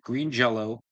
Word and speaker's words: Green Jellÿ: Green Jello Xmas. They're, by the way, they're spelled Green Jelly, but they're pronounced Green Jell-O.